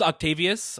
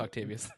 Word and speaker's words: Octavius: It's actually pronounced Octavius. I just want to confirm it's pronounced Octavius.